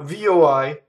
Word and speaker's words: voi: Now, VOI does not rhyme with boy or toy. It's voi. VOI is closed. Voi, right? So you practice vo, like vote, right? Vo-i. Voi. Very fast.